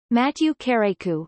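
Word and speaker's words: Mathieu Kérékou: Matthieu kérékou French pronunciation MoDOT TJ okay e ku the second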